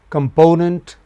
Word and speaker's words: component: Whereas one is component with main stress on the second syllable from left.